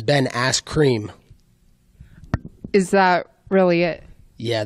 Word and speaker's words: Ben Askren: It's Ben Askren.